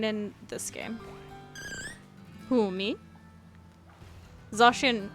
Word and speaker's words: Zacian: Zacian, yeah, it's supposed to be pronounced that way.